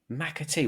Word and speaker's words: McAtee: McAtee.